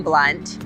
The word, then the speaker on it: Blount: from the area okay blunt is spelled blount but it's pronounced blunt the other fact is